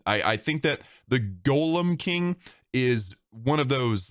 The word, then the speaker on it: Golem: the Golem King and I know some of you pronounce it Gollum king that's wrong you don't pronounce Gollum Gollum with it it just it's just wrong okay don't pronounce it with with a u that that's a character